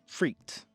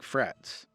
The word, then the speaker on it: frites: Today, we're going to cook up some steak frites. Or if you say it like it's spelled, steak frites.